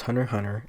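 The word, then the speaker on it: Hunter × Hunter: hunter x hunter pronounced hunter hunter is a manga series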